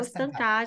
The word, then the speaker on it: Stancati: É assim que pronuncia? Carol Carol Estancada. Stancati.